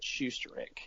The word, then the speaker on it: Schusterick: And I'm like, have a big sigh, and I'm like, I go by Will, and you pronounce it Schusterick.